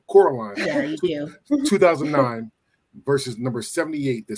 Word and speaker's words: Coraline: yeah cor cor sorry I say Caroline but Coraline 2009 versus number 78